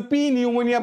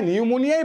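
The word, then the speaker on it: pneumonia: কিন্তু বলবা কি নিউমোনিয়া তখন কিন্তু পি নিউমোনিয়া বলবা না তুমি বলার সময় নিউমোনিয়াই বলবা কিন্তু লেখার সময় পি নিউমোনিয়া বলবা ব্যাপারটা ক্লিয়ার লেখার সময় তুমি পি নিউমোনিয়াই লিখবা কিন্তু বলার সময় পি টা সাইলেন্ট থাকবে হবে আমার নিউমোনিয়া ভেরি ভেরি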